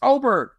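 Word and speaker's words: Åberg: And he finally said, he told Jason Sobel how to pronounce his name for real. It's Oberg.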